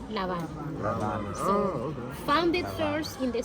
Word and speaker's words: La Habana: That is not The teacher has good La Habana. La Habana. La Habana. Because there is an article, because we don't pronounce H in Spanish, so La Habana.